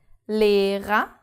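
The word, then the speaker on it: Lehrer: the second syllable and the second R is not pronounced because it's the last letter of the word so Li da and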